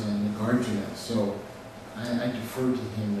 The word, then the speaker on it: Nagarjuna: So terms like Madhyamaka and Yogacara and things like that, I will, and words like Nagarjuna, which a lot of Westerners call Nagarjuna. So the pronunciation that Dan Lusthouse uses is Nagarjuna.